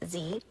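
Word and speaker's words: xe: Z with an X, but it's pronounced Z.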